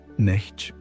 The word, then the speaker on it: neti: The ancient tradition has a specific practice for this called netti pronounced nei which literally means not this not this.